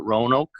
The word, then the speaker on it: Roanoke: and he kind of knew the coach at Roanoke.